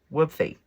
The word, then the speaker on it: Whubefy: Whoopy. Whoopy. That's how you say it.